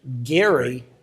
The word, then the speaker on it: Gerry: States early on Eldridge Geary who pronounced his name with a hard G it became known as